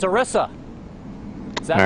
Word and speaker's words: Orisa: Orisa. Kind of like got a ram's... Yes, it's Orisa. Is that All right. pronounced correctly? Orisa?